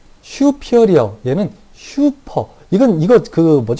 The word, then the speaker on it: superior: 읽을 때는 슈피어리어라고 읽는데요. 우리가 막 읽을 때 이래요. 안테리어, 포스테리어, 슈페리어, 임페리어, 이렇게 읽기도 하는데, 조금 더 이 영어 원문에 가깝게 읽으면 그렇습니다. 외국인들이 발음하듯이 읽으면 슈피어리어, 인피어리어, 안테리어, 포스티어리어 이렇게 얘기하기도 하는데요.